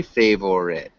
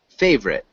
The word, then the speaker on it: favorite: um maybe favorite close there's no or sound so we don't say fave or it favorite just two syllables good nice work and